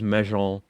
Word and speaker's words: Mejean: I was considering whether I should make a Billie Jean joke, but it wasn't pronounced Jean. It was Mejean.